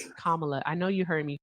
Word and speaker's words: Kamala: No, I didn't vote for Clamala because I felt like she was being thrust upon us. Kamala.